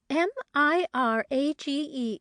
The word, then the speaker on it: mirage: M I R A G E is pronounced mirage, said Valency shortly, picking up her tea and her beans.